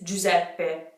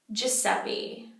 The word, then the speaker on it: Giuseppe: horrible in English ok the name is Jews at bay Jews at Ben in English what do we say Giuseppe Giuseppe yeah it's bad